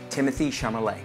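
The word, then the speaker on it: Timothée Chalamet: pronunciation I know it's kind of hard it's pronounced Timothy chamay Timothy The Duchess of Timothy Timothy chamay very good thank you there MD there's your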